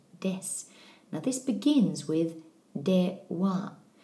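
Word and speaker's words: では: Now this begins with de, wa. You'll notice the pronunciation of wa. That's because it's actually a particle in this word.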